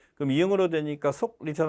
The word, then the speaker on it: 속리산: 기억할 때 이 속리산 할 때 발음할 때 리하고 속하고 기억하고 리으면서 자음동안 연어서 앞에 게 이응으로 발음되잖아. 그럼 이응으로 되니까 속리산 할 때 K로 나타나는 게 아니라 NG로 이제 표기해 주는 게 맞겠죠.